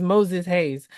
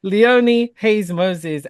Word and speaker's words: Leonie Haynes-Moses: was getting it right I felt like it was Moses Hayes sorry guys it is Leone Hayes Moses actress creative producer welcome